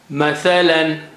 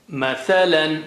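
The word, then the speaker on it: مثلا: Mathalan. Mathalan. Mathalan means example.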